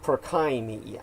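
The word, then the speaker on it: Purkyně: p-u-r-k-i-n-j-e and remember all Slavic languages and the Czechs are Slavs uh the Y is pronounced the J is pronounced as a y so uh would be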